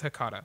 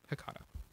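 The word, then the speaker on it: H'Catha: It's Hecata. It's H apostrophe C-A-T-H-A. Hecata.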